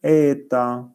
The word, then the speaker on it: ета: ніжку робимо довшою так читається ця буква грецька буква читається ета буквою ета позначається коефіцієнт